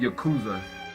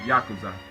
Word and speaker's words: Yakuza: But if you don't know what I'm saying, a lot of people call it Yakuza, but it's actually pronounced Yakuza.